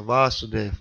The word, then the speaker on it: Васудев: Первое А длинное Васудев это Кришна.